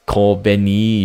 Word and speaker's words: Kobeni: I think the girl that said at the end is Kobeni, if I say her name correctly. It almost like Konbini, like super like convenience store.